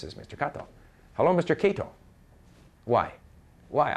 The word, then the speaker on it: Kato: Kato. Okay, Kato is K-A-T-O. So I say, John, this is Mr. Kato. Hello, Mr. Kato. Why? Why? I just finished saying Kato, and yet he says Kato, because on the card it says K-A-T-O.